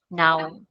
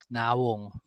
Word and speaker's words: nawong: So, ito, silent O na siya, no? Now. Nawong. Pero pag Bible or nasa news, kino-complete talaga nila yan. O kaya sa mga sa misa, nawong, yung the way they pronounce. Pero sa conversational, now. You just say now.